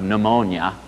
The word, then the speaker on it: pneumonia: And even in English now, you know, if we don't pronounce the P and don't pronounce the U as a V, as they do in modern Greek, you know, if you have pneumonia, it's a disease of the breathing organism of the lungs.